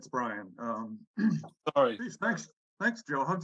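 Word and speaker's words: Brien: It's not, it's spelled B-R-I-E-N. Yeah, it's Brian.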